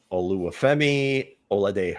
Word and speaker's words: Oluwafemi Oladejo: Oluwafemi Oladejo. Good for you with your pronunciation, man.